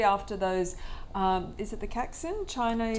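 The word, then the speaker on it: Caixin: is it the Caxin? Chinese? Taishin. It's a hard one to say, but yeah, after 8 years in Asia, I finally learned how to say it. Okay. Taishin, and their PMIs were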